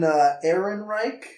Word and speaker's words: Ehrenreich: Alden Ehrenreich, yeah. I think is how you pronounce his name.